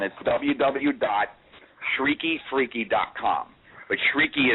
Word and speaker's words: shrieky: WWE freaky calm but shrieky is spelled sh r EA KY so it's shrieky freaky calm and you